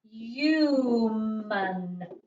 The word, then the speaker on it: human: Now, if you're in my phonics, we're going to come across this word in phonics tomorrow, because this word has a long U sound. So it is human.